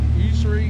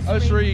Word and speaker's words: Ussery: He'll be at the Usury, how do you say it? Ussery in Funeral Home in Talladega.